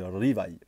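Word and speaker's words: Rivaille: Rivail ni liva c'est Rivail Rivail voilà vous roulez un petit peu le a et puis vous vous vous mettez petit peu de l sur la fin ça c'est la bonne prononciation parce que le r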